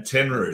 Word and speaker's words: Tenryu: If anyone can phonetically sound out that name, Tenryu.